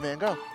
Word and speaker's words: Gogh: That would be Vincent van Gogh. Dude, art major? Oh, you got me on that one. Oh, that was, what's his face? His last name rhymes with go. Van Gogh.